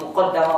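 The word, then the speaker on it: مُقَدَّمَة: Muqaddimah di dalam kitab Muqaddimah fi Ushul Tafsir karya Syekh Ibnu Taimiyah, beliau mengatakan muqaddimah dibacanya muqaddimah atau muqaddamah boleh. Muqaddimah karena mendahului yang lain. Muqaddamah karena didahului oleh, jadi dahulukan daripada yang lain.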